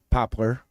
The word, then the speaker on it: Poplar: like the tree yeah like the tree not popular but p-o-p-o-a-r thank you not that it matters no it does matter pop Poplar Creek how do you say it again Poplar Poplar Creek same as popular just know you I'm